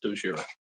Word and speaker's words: Dogira: So first, this is horrible, but am I pronouncing your Dojera? Is that correct? Did I pronounce it correctly? Yes, that's correct. It's Dojira.